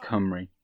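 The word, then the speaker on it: Cymru: I just say hi Marie even though which is Welsh for Wales although he likes to remind me that it's pronounced come REE but kill them all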